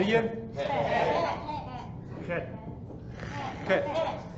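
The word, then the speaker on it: ח: Ket. Put that little guttural thing in there. Ket.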